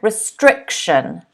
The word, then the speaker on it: restriction: in blue you'll notice the stress is on the second syllable strict strict restriction okay so restriction is